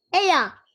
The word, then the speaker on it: ella: Ella. Yahoo! Ella. So guys, in Spanish, the double L makes a y sound.